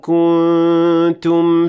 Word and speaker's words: كنتم: That's right, the noon in the word kuntum, which is an indication that the noon will not be fully pronounced in this case because of ikhfa.